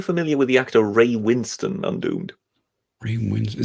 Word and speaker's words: Winstone: As Magog said, written Winstone.